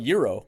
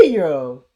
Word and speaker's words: gyro: I I would call it Euro because the G is like a yay or a year or whatever in in Phi a but but it's like it's spelled g-y -r-o-h so it's like yeah Euro you know you I feel